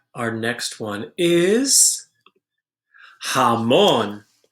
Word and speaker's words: jamón: comer pescado all right our next one is jamón jamón is ham now come on starts with a